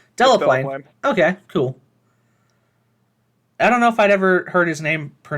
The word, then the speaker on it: Delaplane: Is it I don't know if I've ever heard his name pronounced. Delaplane.